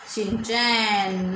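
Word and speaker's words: Shin-chan: जैसे यही स्पेलिंग है SHIN, शिन, CHAN, चैन, शिन चैन, बहुत इजीली याद हो जाएगी।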